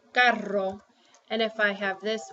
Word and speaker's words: carro: R, you roll the R when your word starts with an R or when there's two R's. So if you have two R's or a word starts with the letter R, roll it. Whoops. So for example, if I have the word carro, I pronounce it carro.